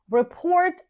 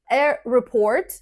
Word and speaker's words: report: We say a report and to report. We pronounce this word the same whether we use it as a noun or as a verb.